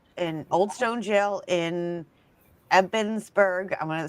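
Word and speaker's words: Ebensburg: I was there last year and um it's in the old jail in Old Stone Jail in Epensburg.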